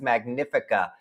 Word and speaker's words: Magnifica: I've got to start saying that correctly. I have learned the incorrect way to say it because, I don't hear people talk about MSC that much. And so I've learned the wrong way to say the name. It is Magnifica.